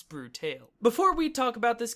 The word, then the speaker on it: Brutale: Cavalier games the sexy brute ale and yes I know that it's been pronounced variously as brutal brutal and brutally but my understanding is that it's a portmanteau of brutal tale hence brute tale before we talk about